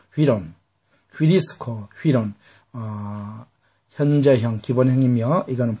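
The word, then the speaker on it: εὗρον: 자, 여러분, 그 다음 동사 휴리스코, 휴이론이죠. 중모음으로서 위 발음 난다 그랬죠. 휘론, 휴리스코, 휘론, 현재형, 기본형이며 이거는 부정가거, 제2 부정가거입니다.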